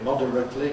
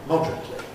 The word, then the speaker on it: moderately: And similarly, moderately can become moderately.